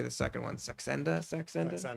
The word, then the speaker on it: Saxenda: don't know how to say the second one, Saxenda? Saxenda? Saxenda, yeah.